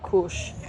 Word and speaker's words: Cush: where I grew up, the indigenous language way of pronouncing my real name is Cush. So Cush as in Cush or like Cush?